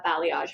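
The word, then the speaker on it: balayage: gone to a new salon looking for uh blayage highlights. Yes, everyone. That's how you pronounce it.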